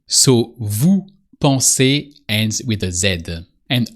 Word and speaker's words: vous pensez: I said it sounds like the infinitive form. I didn't say you should write it the same way. So vu pon ends with a zed